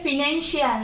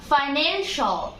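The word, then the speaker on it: financial: এটা ফিনান্সিয়াল না, এটা হবে ফাইন্যান্সিয়াল।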